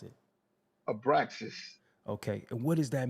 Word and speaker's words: Abraxas: I was saying, how you pronounce it? Abraxas.